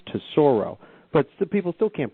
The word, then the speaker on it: Tesoro: is a little bit more complicated, but it's pronounced to Sorro, but still people still can't pronounce T S O. Yeah. A lot of people introduced me as Tessero.